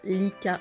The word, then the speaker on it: Licca: Donc Rika-chan, de son vrai nom, s'appelle Kayama Rika, donc Rika se prononce Lika en japonais.